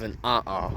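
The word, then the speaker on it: 'a'ā: Now, something I'll point out is that this was an example of an flow. That's literally how it's pronounced.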